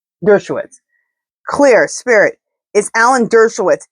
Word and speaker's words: Dershowitz: Is Spirit, is Alan Schwartzowitz, how do you say his name? Dershowitz.